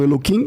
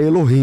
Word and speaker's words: Elohim: Vocês falam Eloquim, mas eu o termo é Elohim, né? Na verdade, é no É, é que no lugar do K é o H, né?